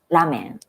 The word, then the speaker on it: ラーメン: ラーメン、ラーメン。Okay, many foreign people misunderstand ramen. Ramen. Ramen, it's long vowel.